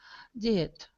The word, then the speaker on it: diet: I think he should go on diet. On a diet. On a diet. It's a long I sound.